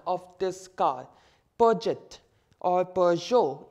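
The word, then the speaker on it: Peugeot: this car budget or per joe if you pronounce it in the french manner per joule so in this blank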